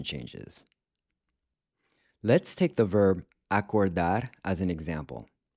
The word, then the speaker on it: acordar: Let's take the verb acordar as an example. The O in acordar is pronounced with a closed O, which is like the O in the English word cold.